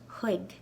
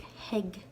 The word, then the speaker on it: chuig: Okay, the last version of the preposition to in Irish is chuig. Chuig. I've also heard it pronounced like heg. Either one.